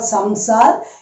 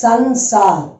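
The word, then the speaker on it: संसार: It's not samsar. It is sansar. Okay. Sansar.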